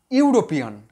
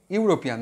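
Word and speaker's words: European: দেখো, ইউরোপিয়ান, হি is, blank দিলাম, ইউরোপিয়ান, হি ইজ ইউরোপিয়ান। দেখো, ই ভাওয়েল, কিন্তু এখানে উচ্চারণটা কি হচ্ছে, ইউ, ইউ।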